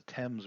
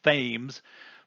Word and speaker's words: Thames: th am es the Thames River it sounds like it should be spelled or pronounced Thames but it's not that's a Thames river in London so here's